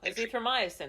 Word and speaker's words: azithromycin: as erythromycin and I don't know how to pronounce this one, but common antibiotics. Oh, azithromycin.